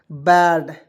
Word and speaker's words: bad: अब यहाँ पर एक रूल याद रखिएगा दोस्तों, दो कंसोनेंट के बीच में ए आएगा, उसका उच्चारण ए के रूप में करेंगे। जैसे बी से ब लिखेंगे और डी से ड लिखेंगे, दो कंसोनेंट के बीच में ए आया, उसका उच्चारण ए के रूप में करेंगे, क्या हो जाएगा दोस्तों, बैड।